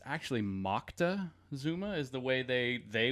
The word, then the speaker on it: Moctezuma: thing happened to get it started we say Montezuma and it's actually Moctezuma is the way they they would pronounce it I saw it spelled two different